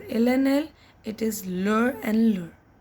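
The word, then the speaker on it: leurs: And lastly, for il and el, masculine singular and feminine singular it is leur, and plural again leur, just s is added but it is not pronounced.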